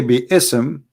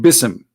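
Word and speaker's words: بسم: they recite the Quran they don't say be Issam and it's written wrong no they recited BISM and i will tell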